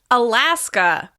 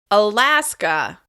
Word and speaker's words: Alaska: Next, Alaska. Alaska. This state is stressed on the second syllable. Alaska.